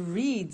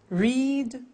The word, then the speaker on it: read: Read, read. Notice that. Now, read and read are written exactly the same, but the pronunciation changes in the past tense.